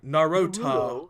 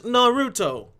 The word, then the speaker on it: Naruto: TV show Nar or they say it like narut narut the show known as Naruto anyways um yeah he